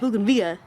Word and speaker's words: bougainvillea: plant is what so this is my logan vega but they call it but it's spelled bougainvillea but yes that's what i was raised to call it so i'll just kill